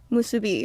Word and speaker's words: Musubi: so Okay, the the correct way is Musubi.